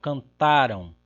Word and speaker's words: cantaram: E até se a gente prestar atenção na maneira como nós pronunciamos mesmo, Então aqui, cantaram, cantaram, cantaram, cantaram, cantarão, cantarão. Nós temos uma oposição apenas entre paroxítona e oxítona.